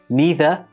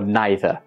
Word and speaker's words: neither: the same for this word it can be neither or neither again both pronunciations are acceptable this is not a regional